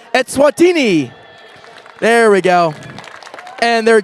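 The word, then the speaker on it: Eswatini: okay that's why I say it please correct me yeah I might say wrong word two more times the correct pronunciation is etswatini there we go and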